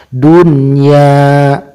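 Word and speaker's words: دنيا: contoh Seperti dukun ya maka tidak boleh dibaca du.ia walaupun nun mati bertemu dengan huruf idgham itu Iya karena ini berada dalam satu kalimah maka cara membacanya tidak boleh di idghomkan tapi harus dihindarkan dunia yang kedua qinwanun tidak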